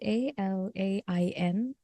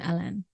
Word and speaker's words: Alain: uh it's spelled as a l a i n which is very much a very French pronunciation alen Al but some people